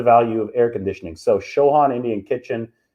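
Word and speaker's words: Chauhan: indian food hybridized with with southern southern food shohan is how you pronounce it show on it's called like a masala bar or something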